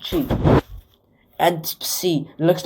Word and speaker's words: chi: A chi, notice it is pronounced ch, not x. It's not pronounced like k, x. I mean, there's already an x, xi, in the Greek alphabet. It's pronounced chi.